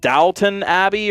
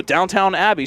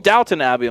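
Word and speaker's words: Downton Abbey: I'm like, you know, that PBS show, Downtown Abbey. So you mean Dalton Abbey?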